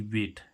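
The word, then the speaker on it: bait: Guys एक वेट होता है बी ए आई टी, वेट, वेट, वेट, यहाँ पर भी क्या आ रहा है? ए आई, तो इसका उच्चारण क्या निकल रहा है?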